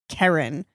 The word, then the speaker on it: Kerryn: Some people just really struggle with the short E syllable, which is probably the second noise you learn as a human. Yeah. They're just like, it's Kerryn. No, it's Kerryn. It's like bed or let or errand.